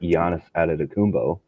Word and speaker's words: Giannis Antetokounmpo: You wouldn't have wanted to have to stay locked into the same opinion you have now if we get Giannis Antetokounmpo, and that is how you pronounce his name.